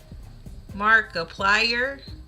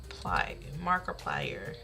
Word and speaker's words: Markiplier: honor Mark how do you say that Mark Mark applier it's half Korean who is that it's half Korean hold on let me look this person up Mark Markiplier oh he looks like uh a keano Reeves